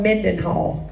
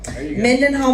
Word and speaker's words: Mendenhall: to how to say it y'all it's called Mendenhall Mendenhall Mississippi he was voted gospel music vocalist of